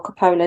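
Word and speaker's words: Coppola: but apparently Francis for Copa sent or Capa depending again who how you say it I say Copa I say it as I see it he sent uh Gary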